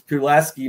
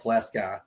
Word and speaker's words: Pulaski: We are built in, they say it wrong, but it's it's Pulaski, New York. They call it Flask Sky, but anyway, New York,